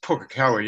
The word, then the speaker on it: Pukekohe: And it's pronounced Pukekohe, isn't it?